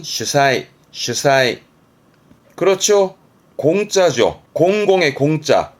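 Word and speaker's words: 主催: 발음은 슈사이, 슈사이.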